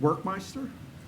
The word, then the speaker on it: Workmeister: Thank Workmeister? Is it pronounced just like it's spelled? You got it.